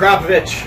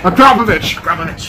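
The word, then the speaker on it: Akrapovič: How do you pronounce it, Zack? Akrapovic. Akrapovic.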